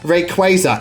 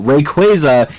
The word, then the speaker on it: Rayquaza: from so many people Rayquaza is a badass Fusion of Ray and quazar Rayquaza is you inserting a the sound of a bird squawking into the middle of the Pokemon's name but it hey it's